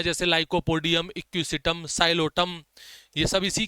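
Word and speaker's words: Psilotum: Lycopodium, एक्यूसम, साइलोटम P silent होगा इसके अंदर।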